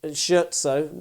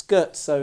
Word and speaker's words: Scherzo: For years I used to call it Scherzo, but it's Scherzo is, I believe, the proper pronunciation, or somewhere in that ballpark, by the wonderful composer Beethoven.